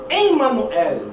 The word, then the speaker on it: Emanuel: lá em Isaías todavia a palavra correta é Emanuel Emanuel que são separado em três sílabas a língua portuguesa na